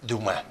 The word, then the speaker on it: Dumas: Dumas, aunque lo pronuncian los franceses Dumas.